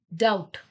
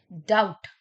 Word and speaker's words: doubt: Doubt. Doubt. तो यहाँ पर जो हमारा silent word है that is B.